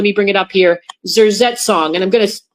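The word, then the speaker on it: Zersetzung: what's called, let me bring it up here, zerong. And I'm going to spell it. Z E R Zet Zong.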